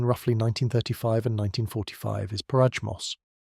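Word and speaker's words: Porajmos: The Roma word for what happened to their people between roughly 1935 and 1945 is Parajos, pronounced approximately Primos, a Romani word meaning the devouring, or sometimes translated as the destruction.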